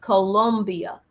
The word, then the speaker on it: Colombia: Just hours after the operation, Trump turned to Venezuela's neighbors to the west, Colombia. And I say it like that because I'm from Columbia, South Carolina, but Colombia.